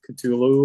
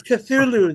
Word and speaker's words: Cthulhu: through the call of Culu or I I don't even know how to say it properly. Culu. Culu. Yeah, it's Cthulhu. They Lovecraft is Cthulhu, but they shortened it for Okay.